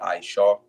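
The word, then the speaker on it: עשו: Which they go off on the pronunciation, but the syllables are correct. It will be Ishaw. All right, and it comes from Isha. All right, it's masculine, so it would be Ishaw.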